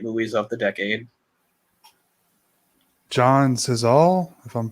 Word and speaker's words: Cazale: John Cazale, if I'm pronouncing it right. Cazale. Oh, Cazale.